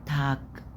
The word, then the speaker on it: Tag: فجوتن ابند وجوتن تاك، جوتن تاك، تاك الجي في الاخر بتنطق كي، كي كي، تاج، مش بنقول تاج ج ج، لا تاج، جوتن تاج، جوتن جوتن تاج.